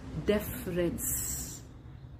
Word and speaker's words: deference: Deference. Deaf as in definite. Rence as in reference.